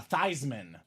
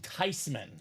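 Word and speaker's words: Theismann: quarterbacks in the 80s Joey T was uh thyman now years later they interviewed the grma and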